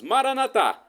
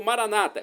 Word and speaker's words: Maranata: do aramaico dialeto de Jesus Maranata com a tônica na última sílaba como dizemos nós católicos ou Maranata como dizem nossos irmãos separados os evangélicos ou protestantes não